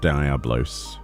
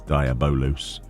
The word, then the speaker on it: Diabolos: It's not Diablos. It's not Diablo, it's Diabolos. Apparently.